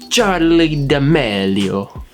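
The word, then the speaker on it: Charli D'Amelio: come on julian how do you go about pronouncing her name charlie the melio charlie damelio yes margaret i'm telling you that the 16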